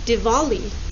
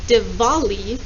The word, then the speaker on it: Diwali: correct this holiday is diwali or diwali in in traditional indian it is pronounced divali with the sound even though it's a w but in many english-speaking countries it is pronounced di wali in my video you